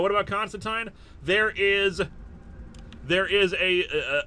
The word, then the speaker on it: Constantine: American Media always says Constantine I think I think it sounds better to say Constantine but it's a British name it's how it's pronounced so that's what we're